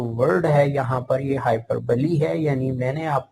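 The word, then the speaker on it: hyperbole: Next جو ہے وہ ہے ہائپر بلی. اس کا جو تلفظ ہے، پروننسیشن ہے، وہ ہائپر بلی ہے. لکھا یہ ہائپر بول ہے لیکن جو پروننسیشن ہے ہائپر بلی.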